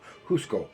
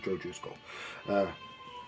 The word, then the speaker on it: Jusko: Joe Jusko, or is his name supposed to be pronounced Husko? I don't know. It's pronounced Joe Jusko.